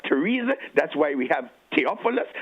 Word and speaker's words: Theresa: the th1 this morning especially the one where the t is capital the H is silent that's why we have the river temps that's why we have Thailand that's why we have Theresa that's why we have